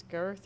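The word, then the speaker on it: Goethe: Um, and I always say the dude's name wrong. I think it's Girth or G, but it's G O E T H E.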